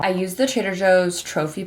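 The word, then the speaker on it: trofie: used the Trader Joe's trophy pasta t r o f i e I think that's how you say it instead of orzo because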